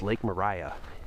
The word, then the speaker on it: Lake Maria: and it said uh pronounced Lake Mariah, even though it doesn't end with an H, which I think would be a requirement for that pronunciation.